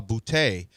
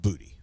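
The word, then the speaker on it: Boutte: While many Sports and Answers fans and media members historically pronounced his last name with the French style bouty, Booty himself confirmed that it is pronounced Booty.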